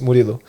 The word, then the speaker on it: Murillo: I was like, okay, it's Murillo.